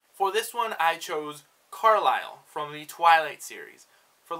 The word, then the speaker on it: Carlisle: hard name to pronounce I don't know why I was pronouncing it as Carly soul but in my head because I saw that s I felt like I needed to pronounce it so definitely Carlisle sorry number two is